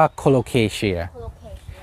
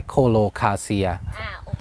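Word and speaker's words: Colocasia: ใน การ ทั้ง กริช ทั้ง คู่ ก็ จะ เรียก ว่า คน โอเค เชียร์ ไม่ ใช่ โค โล คา เซีย แล้ว ก็ อ่า ต่าง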